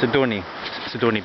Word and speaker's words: Sidoni: Let's just check that this actually, I'm pronouncing this properly. Yes, Sidoni Beach, which I think means sheet for a bed.